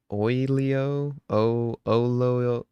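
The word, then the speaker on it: Oyelowo: And I hope I don't say this uh this man's last name wrong either. Um David uh Oio O.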